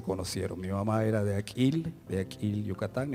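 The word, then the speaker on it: Akil: Aquil, así se pronuncia.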